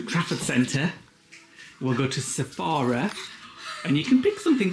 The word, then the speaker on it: Sephora: Sephora?